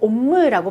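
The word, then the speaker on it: homme: 요거 옴무라고 발음을 하죠. 아쉬 발음 안 난다고 그랬어요. 그리고 모음하고 m이나 n이 결합을 하면 비모음이 되지만 두 개가 연달아 나오면요. 비모음이 풀어진다라고 했어요. 그래서 요거는 옴무라고 발음을 합니다.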